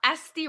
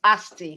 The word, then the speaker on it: ST: I'm ST, like the letters S and T. Just saying the letters ST together.